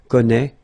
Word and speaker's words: connaît: Well, you pronounce these three forms the same way, okay, connaît, connaît, and then connaît, alright, let's see how it